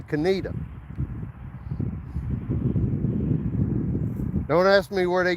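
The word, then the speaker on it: Conetoe: You would think it would be pronounced conto, but it's actually canita.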